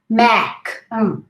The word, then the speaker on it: MAC: Mac. Remember the three fingers? Mac.